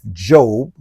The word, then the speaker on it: Job: from The Book of Job which is a Old Testament book and it's actually spelled like job j o right for those who don't know but Job chapter 23